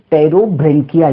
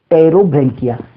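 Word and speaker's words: Pterobranchia: एक का नाम है एंटीरोन्यूस्टा, मैं फिर से बोल दूं एंटीरोन्यूस्टा, और दूसरी जो क्लास है वो है टेरोब्रेंकिया, यहाँ पर पी साइलेंट है, टेरोब्रेंकिया।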